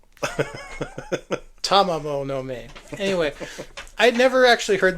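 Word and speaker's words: Tamamo-no-Mae: Because you know the story of Tomamo no Me. There, I pronounced it right. Yeah, every syllable. Tamamo no Me.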